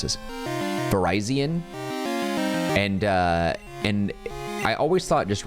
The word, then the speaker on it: Virizion: Virizion. That's, and I was like, that's weird. The spelling and the pronunciation just remind me of Verizon Wireless, and I just thought it was so weird.